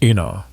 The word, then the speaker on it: Ena: Within the family, she was known by the Spanish pronunciation of her fourth name, Ena.